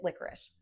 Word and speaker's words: licorice: So this one is licorice. And here's what I love about the licorice one. It sounds like an sh, but it's not spelled like an sh.